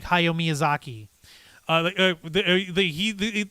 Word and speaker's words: Miyazaki: the main story of the return of hayo miyuzaki miyazaki miyazaki thank you miyuzaki like why are you